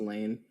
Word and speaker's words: Layne: Well, anyways, today I'm here with Lainey, also known as Broken Daughter, and It's pronounced Lane.